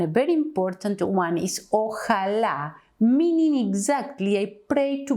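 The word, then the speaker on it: ojalá: is the Arabic word the Arabic word is pronounced by more or less inshallah and in Spanish it is o Allah because Allah is the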